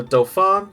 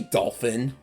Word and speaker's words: Dauphin: When we take Orleans, the Dauphin shall be crowned king, and the English driven away. Dauphin, that's how you pronounce it. Did you say dolphin? Not a dolphin, the Dauphin.